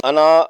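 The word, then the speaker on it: أنا: پر وقف نہیں ہوتا، اس لیے اس کا الف نہیں پڑھیں گے اور تلفظ ہوگا انا۔ اور اگر کسی وجہ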